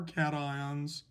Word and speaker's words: cation: want to point out this is spelled c-a-t-i-o-n-s but it is pronounced cation a-n-i-o-n-s it's pronounced anion